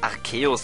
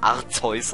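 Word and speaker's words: Arceus: also der Anime Serie wo es archeus ausgesprochen ich habe bis dahin immer arzus ausgesprochen oder Arus ja aber es erinnert mich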